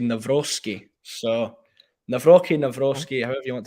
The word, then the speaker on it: Nawrocki: Yeah, I googled how to pronounce Mike Nawrocki. Nawrocki. Although we had a automated woman's voice saying Nawrocki.